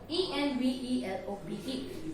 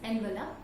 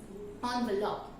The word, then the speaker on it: envelope: I repeat, the correct pronunciation of this word is envelope. Yes. So the correct pronunciation of this word, as I told, is envelope. Now, it is not always that EN stands, the pronunciation of EN is on.